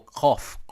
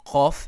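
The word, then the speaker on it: ק: Qaf is different than Kaf. Khaf. Notice the pronunciation is different. Qaf. Qal. Okay, it's all the way at the back of the throat. Like the cawing of a crow.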